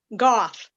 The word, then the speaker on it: Goff: I think it's Goff. Goff? Goff, yeah.